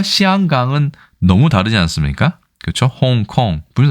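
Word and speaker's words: 香港: 그래서 중국 그 본토 발음으로는 맨저린 같은 경우는 시앙강이라고 합니다. 홍콩과 시앙강은 너무 다르지 않습니까?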